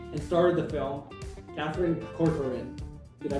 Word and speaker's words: Corcoran: Kaufman, and starred the film, Katherine Cororin. Did I pronounce that right?